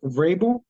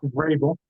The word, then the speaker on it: Vrabel: than Mike Vrabel?